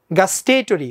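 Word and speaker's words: gustatory: test মানে স্বাদ এটা আমার স্বাদের সাথে সম্পর্কযুক্ত গাস্টেটরি উচ্চারণটা আমি বলছি গাস্টেটরি ইমেজারি এটা হচ্ছে গিয়ে টেস্ট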